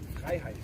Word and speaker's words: Freiheit: Freiheit.